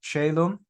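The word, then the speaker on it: caelum: wasting your own time the first word there is pronounced chaum that refers to the heavens the chaum you can think about it it's easy to remember just think of ceiling right the ceiling is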